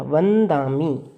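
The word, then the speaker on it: वंदामि: इसका लॉजिक इसका next word है। जैसे जो नेक्स्ट वर्ड है वो द है। अब द देखिए कौन से वर्ग के अंदर आता है, द आता है त वर्ग के अंदर, ये रहा, ठीक है। त थ द, और इस वर्ग का जो लास्ट अक्षर है वो क्या है, न, वो है न। तो इस वजह से हमने इसको न साउंड किया, वंदामी न, क्योंकि ये द जो है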